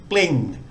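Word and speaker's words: ปลิง: It's the bo, bla, lo, ling consonant cluster. We've got a short I vowel, and then again we've got the final consonant ngong, the ng, bling.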